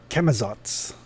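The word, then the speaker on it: Camazotz: Chemizots. Just the way it's spelled out. Just the way it sounds actually.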